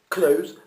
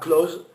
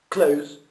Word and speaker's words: close: Attention au diphtongue du O, close, pas close, close, to, c'est pas tout, tu.